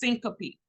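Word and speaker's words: syncope: faint the medical terminology word for fainting is pronounced Syncopy okay my little picture over here with the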